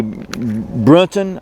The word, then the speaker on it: Brunton: The second item in the basic box is a Brunton, I believe that's how you say it, Brunton TrueArc 3 base plate compass.